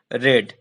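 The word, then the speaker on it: read: पढ़ना का होता है रीड, इसका सेकेंड और थर्ड फॉर्म होता है रेड रेड। तीनों फॉर्म में स्पेलिंग सेम होता है, लेकिन सेकेंड और थर्ड फॉर्म में उच्चारण रेड होता है, तो यहाँ पर थर्ड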